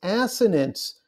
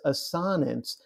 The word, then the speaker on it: assonance: indeed I did yes the correct way to pronounce this last one is assonance your English teachers love to pronounce it as a sonnets but they do that